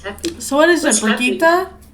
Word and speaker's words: Brigitte: If you listen to her voice actress talking about how to say it, she goes Brigitte. Brigitte. Yeah, I never listened to her voice actor. I wouldn't. So not baguette.